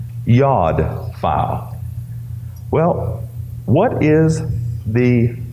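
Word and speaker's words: yod: spelled j OD but it's pronounced like the y yad file well what is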